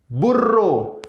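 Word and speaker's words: burro: ऐसी यहां पर जो हमारा दोबले एर्रे उसको प्रोनाउंस करते समय हमें अपनी टंग को टिल्ड करना पड़ेगा, लाइक पेर्रो, पेर्रो, पेर्रो। एंड बुर्रो, बुर्रो, पेर्रो मीन्स डॉग और बुर्रो मीन्स डोंकी।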